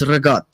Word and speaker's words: ricotta: And it's not ricotta, it's rigot.